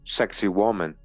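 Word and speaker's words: Sacsayhuamán: Sak hwan pronounced sexy woman overlooks the ancient capital of Cusco.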